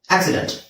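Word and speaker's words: accident: ಇದು ಆಕ್ಸಿಡೆಂಟ್ ಆಕ್ಸಿಡೆಂಟ್ ಆಕ್ಸಿಡೆಂಟ್ ಈಗ English ಅಲ್ಲಿ ಎರಡು ಸಿ ಬಂದ್ರೆ ಒಂದು ಸಿ ಒಂದು ಸಿ ನಿಮಗೆ ಸ ಅಂತ ಅಂತ ಆಗುತ್ತೆ ಒಂದು ಸಿ ಕ ಅಂತ ಆಗುತ್ತೆ ಇಲ್ನೋಡಿ ಆಕ್ ಸಿ ಆಕ್ಸಿಡೆಂಟ್ ಓಕೆ ನೆಕ್ಸ್ಟ್ ಅ ಕಂಪನಿ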